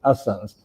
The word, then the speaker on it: Hassan: name was Hassan, but because they didn't pronounce the H, it was Hassan's.